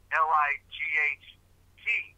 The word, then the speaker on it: light: as a silent symbol, like the word light, L-I-G-H-T, right? But you don't really pronounce it. You got a long I and you go right over to the T.